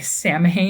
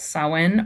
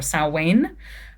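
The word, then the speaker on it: Samhain: Um, some people say Sam because that's what it looks like it says, but yeah, it's pronounced sin or saw um is uh considered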